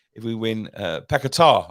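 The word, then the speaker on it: Paquetá: if we win his paquetta if we win uh pekatar I think it is um women we've been pronouncing it wrong all season if we win um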